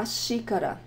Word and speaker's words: xícara: A xícara, xícara. And in that word, we have the pronunciation of the X as the first letter of the word.